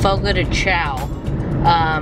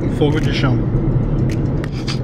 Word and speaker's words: Fogo de Chão: spelling of it, but everybody pronounces it Fogo de Chao. David pronounces it differently, so I try to pronounce it the way that he pronounces it. David, how do you pronounce the way people say Fogo de Chao? Fogo de Chão. Which is not obviously the same.